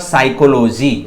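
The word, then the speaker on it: psychology: ठीक है, और यहां पर क्या है, पी साइलेंट है, यहां हो जाएगा सिर्फ साइकोलॉजी।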